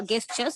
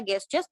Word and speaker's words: gesture: a gesture uh uh gestures it's not a guess just it's a gesture uh gestures uh this